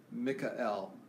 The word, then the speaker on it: Mikael: My real name is pronounced Mikael because my region is Iceland.